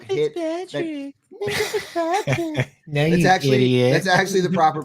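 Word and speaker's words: Minkah Fitzpatrick: Minka Fitzpatrick. No, That's actually the proper pronunciation, Jail.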